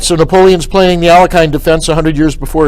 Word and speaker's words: Alekhine: Knight f6, which we all know today as the Alekhine defense, or Alekhine, Russian pronunciation.